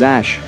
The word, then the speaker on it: Æ: According to Musk and Grimes, his name was "X-Æ-A-12"; where “Æ” is pronounced as “Ash”.